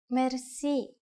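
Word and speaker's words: мерси: you will be amazed which word that is merci merci merci is a lone word from french but it is pronounced with the typical bulgarian heart are it is used mainly in informal situations merci how do you answer it's easy there are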